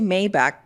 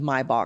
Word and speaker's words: Maybach: Because they say Maybach teenically isn't correct. So, I'm just going with Maybach.